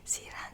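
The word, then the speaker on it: Sirhan: el culpable oficial de este magnicidio el palestino siran siran que se escribe s i r h a n sigue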